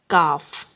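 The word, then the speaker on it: کاف: Okay, in soft sound we will say K, A, K, but we will pronounce it Kaaf.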